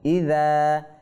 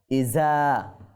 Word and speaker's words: إذا: ইযা ইযা ইযা। আর রালটা উচ্চারণ করার সময় আমরা একটু সতর্ক থাকব। ইজা বলে দেওয়া যাবে না। ইজা জুলজিলাতিল বললে এটা কি হবে? রাল থেকে ঝাতে পরিবর্তন হয়ে যাবে।